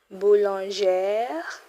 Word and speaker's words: boulangère: For the female, you add E. Boulangère. That's how you pronounce it. Boulangère.